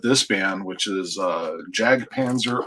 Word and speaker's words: Jag Panzer: band which is uh Jag Panzer or yag Panzer whichever way you don't think it is Allan pronoun pronounces it that way he says yag paner and cirth unle which